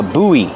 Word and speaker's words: buoy: Use a long oo like food. Ooh. Boo. Buy. And then the long e like green beans. And link the vowels.